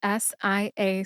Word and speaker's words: Sia: As far as music, the artist known as Sia, which is spelled S-I-A, Sia, caught my ear this summer.